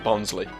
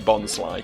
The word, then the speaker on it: Bonsly: I've always pronounced it Bonsley. It sounds like a surname, and I like that. My name is Bonsley. Private High. But yeah, it's obviously Bonsly because it's like bonsai, right?